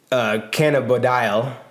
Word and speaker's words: cannabidiol: So basically, cannabidiol is how you say it.